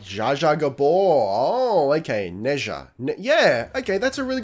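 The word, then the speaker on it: 哪吒: Pronounced more like Neja? Neja? Neja! Ah, okay, that's a yeah. If that's accurate, that's a much better explanation of it. Thank you. Neja. That sounds right.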